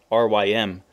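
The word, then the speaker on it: RYM: one revolutionary youth movement R ym pronounced like rhyme two workers organized to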